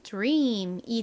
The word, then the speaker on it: dream: 소리 연결하면 dream이 되는데요 와 아리 이렇게 바로 붙어서 쓰이면 뒤가 살짝지 소리가 들어가게 된다라고 말씀을 드렸습니다 그래서 dream dream 이렇게 발음이나요 너무 드림 이렇게 즈 소리를 내기보다 지이 살자 섞인 소리가납니다 dream dream 약간 지극 하기도 하고 디귿 하기도 한 이런 애매한 소리인데요 그렇게 소리를내는게 좀 어려우실